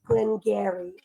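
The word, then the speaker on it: Glen Garioch: guys the extra words Gary garok is how it looks it look like Gary it does Gary is silent o h it's not there Gary it's Glenn Gary another Glenn so this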